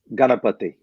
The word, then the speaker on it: Ganapathi: want to butcher it so how do you pronounce your last name galapati see i i was thinking it was that